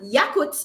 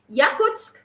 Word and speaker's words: Yakutsk: right first of all another quick interesting fact yakuts and i'm sure that's not who is pronounced yakutsk yakutsk is the coalesce place in europe really